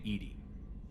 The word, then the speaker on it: EDI: airlock is a jar why are you named edie edie is the phonetic pronunciation of edi where are you my core